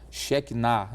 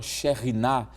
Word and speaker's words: Shekinah: onde se falará sobre a chamada Shekinah, não é? A presença da glória de Deus, ou a Shekhinah, como alguns preferem pronunciar.